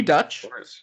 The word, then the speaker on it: Deutch: in here there's Zoe Dutch who I think was just kind of I think it's dutch but it's spelled like Deutch she's just coming onto